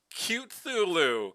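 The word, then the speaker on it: Cthulhu: Tonight, I am playing Cute Thulu, which is how you bipeds say his name, their name, her name, its name.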